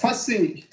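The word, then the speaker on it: Fasih: Real quick, how do I pronounce your name? It's Fassi.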